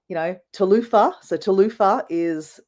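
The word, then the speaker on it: Talofa: So Talufa is how you say hello.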